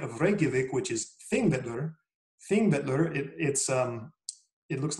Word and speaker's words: Þingvellir: But Þingvellir is how they say it. Every Icelandic word, you emphasize the first syllable. Every Icelandic word, as far as I know, you accent the first syllable.